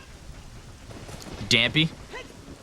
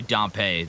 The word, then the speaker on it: Dampé: I say it like Dampé. Oh, it is probably Dampé, like Pompeii.